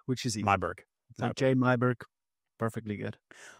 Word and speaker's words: Myburgh: In Afrikaans, you pronounce it Myburgh. Wow. Yeah. That's not going to happen. But in English, it's Myburgh, which is easy. Myburgh.